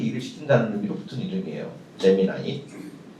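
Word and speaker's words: Gemini: 우리 옛날 식으로 표현하면 재미니 쌍둥이별이란는 뜻이에요. 쌍동이고요. 그래서 나와 똑같은 분신을 또 하나 만들어 가지고 AI 쌍동이를 만들어서 걔한테 일을 시킨다는 의미로 붙은 이름이에요. 재미나이. 미국 식발음입니다.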